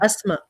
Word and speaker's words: Asma: So, how do you pronounce your name correctly then? Asma. Oh, in Arabic, in real Arabic, like literal Arabic, it's but like Tunisian dialect, it's asma.